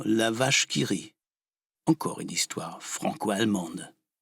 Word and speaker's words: La vache qui rit: foxtrot patriotique finement intitulé l'avare kiri allusion au célèbre walkyrie de richard wagner qui était alors un méchant puisque amant est prononcée à la française ça se dit évidemment la vache qui rit encore une histoire franco